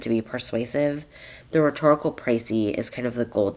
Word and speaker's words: précis: Today, um, I want us to start learning how to write a rhetorical precy is how you pronounce that.